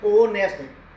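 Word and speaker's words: honest: ये स्पेलिंग क्या है उच्चारण यानी प्रोनंसिएशन सही होना चाहिए उच्चारण सही होना चाहिए ऑनेस्ट नहीं है ये होनेस्ट नहीं है ऑनेस्ट है ओनेस्ट ए की ध्वनि आ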